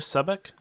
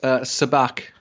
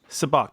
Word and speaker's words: Sabak: your name real quick is it sub ik it's soo bahk subak a Bock okay